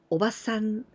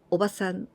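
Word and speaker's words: おばさん: The intonation, たたたん, たたたん, おばさん. Because if we say the long sound, おばあさん, たたんたん, たたんたん, おばあさん, it means grandmother.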